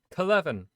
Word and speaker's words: Kelevin: Clevin. That's how you pronounce it.